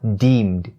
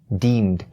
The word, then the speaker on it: deemed: Deem, deem, and then the ed part at the end is pronounced as the D sound, and so we have deemed, deemed.